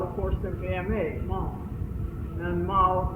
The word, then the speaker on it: Ma: There's the people, the man who's going now to his refuge, and he's accompanied by his servant.